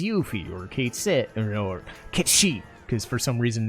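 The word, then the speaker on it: Cait Sith: or Kate Sith, or Kate Sheep, because for some reason they decided to use Kate Sith as the pronunciation in Rebirth. That's wrong! But anyway, it's Kate Sheep, by the way.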